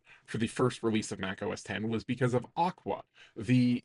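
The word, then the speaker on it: Mac OS X: very first version of Mac OS 10 and the X is pronounced 10 because Steve Jobs knew that that having thousands of nerds correcting everyone when they called it OSX would not result in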